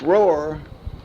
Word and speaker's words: Roi: a few of them here for you this Roar that I've been mentioning is spelled Roi in the mirror is n-a-m-u-r in